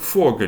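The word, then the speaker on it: Vogel: Фау. Вона може вимовлятися як, а може вимовлятися як в в залежності від слова. Приклади. де фогель - птах, але дій вазе ваза дас відео відео.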